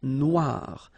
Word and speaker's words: Noire: Then here, la mer Noire. Same thing here that we had previously. Final not pronounced, okay? And then OI, remember, wa, noir.